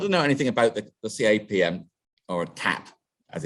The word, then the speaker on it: CAP: cloud application programming modules c-a-p-m the ap it's it's it's actually if you write it down it's c-a-p-m right but then the m is silent oh that sounds so it's cap cloud application programming model